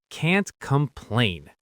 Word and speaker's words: can't complain: The key is that hard T sound that cuts off. Can't complain. The T stops the air completely.